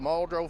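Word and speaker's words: Muldraugh: We we're called Maldro Fire Department.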